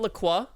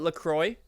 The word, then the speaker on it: LaCroix: this look you know it's not lacroix you know people in the us call it lacroix yeah i know wait